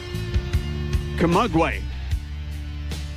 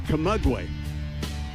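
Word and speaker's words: Camagüey: Camaguey is how it says. Camaguey.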